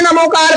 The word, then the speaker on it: णमोकार: जैसे प्राकृत जैसे ज्ञानी जैसे ना अभी आप णमोकार पढ़ते हो ना जब प्राकृत में णमोकार पढ़ा जाता है तो राम बोला जाता है। ये जीभ अपनी तार ऊपर से टकरानी चाहिए और शुद्ध उच्चारण